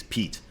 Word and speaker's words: Pete: I mean it's it's Pete which rhymes with feet rhymes with feet keep